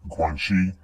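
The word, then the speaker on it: Guanxi: Guanchi, pronounced Guangshi, is usually translated as social connections or relationships, but these don't tell the whole picture.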